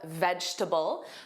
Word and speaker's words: vegetable: So here in the phonetic spelling, notice that middle e is an upside down e, which is the schwa sound, which is more of an unstressed sound.